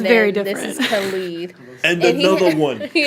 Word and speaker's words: Khalid: Khalid. Khalid, sorry. Another by one. Khalid, called Not that one. Not that one. Different. Yeah. That's DJ Khaled. Oh. Khaled, and It's then very this different. is Khalid.